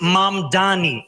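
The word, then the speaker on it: Mamdani: And furthermore, the name is Mam Dani.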